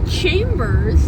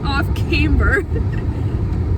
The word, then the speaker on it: Off Camber: I keep saying it wrong. Off Chambers Brewing. I keep thinking it's Chambers. That's why. Off Camber.